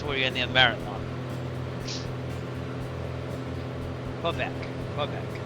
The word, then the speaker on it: Quebec: Quebec. Quebec. Say Quebec. Yes. Okay. Some say Kbec, which is the I think that's the French pronunciation, but in the Americanized version.